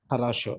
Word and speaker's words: хорошо: Хорошо. Хорошо. Yeah. Хорошо. Harasho.